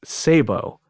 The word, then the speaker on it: Szabo: opinion, would be Nick Szabo, which, for those of you unfamiliar, if you want to Google this stuff or whatever, it's spelled SZABO, which is why Agent Ether was having trouble pronouncing it earlier.